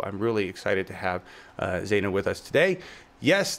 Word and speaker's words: Zeynab: really excited to have Zana with us today yes the B is silent we learned that did